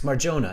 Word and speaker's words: Marjona: it's Marjona. It is Jonah. Okay. Yeah, I wasn't sure if it's or Jonah.